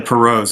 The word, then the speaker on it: Pirault: really is a story of the, am I pronouncing it right, the Perot's? Yeah, Perot's, and actually, good segue.